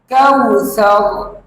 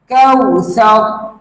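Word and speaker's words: كوثر: করে বলুন কাউ সা কাউ সা এই শব্দের উচ্চারণ হচ্ছে কাউসার কাউসার কাউসার এই শব্দের অর্থ হচ্ছে কাউসার অর্থাৎ আমরা সকলেই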